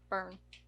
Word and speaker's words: Byrne: And starring Melissa McCarthy, Jude Law, and Rose Byrne. Burn. Said it right the first time.